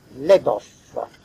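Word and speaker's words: Labov: lui-même sociolinguistique, qui s'appelle Leboff. Je crois que ça se prononce comme ça, je ne suis pas sûr. L-A-B-O-V.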